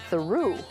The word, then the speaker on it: Theroux: Celebs whose names we mispronounced for years. Lindsay Lohan is Lindsay Lohan, not Lohan. Aha. Justin Theroux is Justin Theroux.